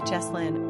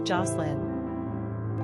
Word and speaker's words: Jocelyn: Pronunciation, Jahslyn or Jocelyn.